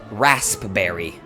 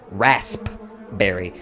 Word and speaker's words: raspberry: Another thing I really hate, the fact that it's spelled raspberry. Rasp berry. It's not You pronounce it raspberry.